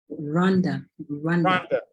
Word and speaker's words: Rwanda: Rwanda.